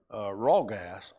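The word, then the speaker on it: רגז: But the word here that Joseph uses is a word rawgas. Rawgas. That's Hebrew, and it's better translated "do not fear." The Hebrew ragas, and that's spelled R-A-G-A-S, has to do with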